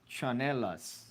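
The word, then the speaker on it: tsinelas: And then Vanessa chimes in saying, in the Philippines, we call them, pronounced chanelas.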